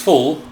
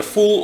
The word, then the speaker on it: Phul: today uh which is full that's how I'll be pronouncing his name fool p h u l spelled and pronounced either full or Phil in any case I'm